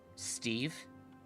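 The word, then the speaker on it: St'Ev: Except it's spelled like S-T-apostrophe-E-V. Steve.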